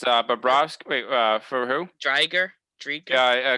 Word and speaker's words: Bobrovsky: How do you pronounce it? It's Bobrovsky.